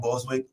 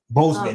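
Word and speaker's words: Boseman: rest in peace to chad boswick right that's if i said it right bozeman i'm sorry it's bozeman i'm saying it wrong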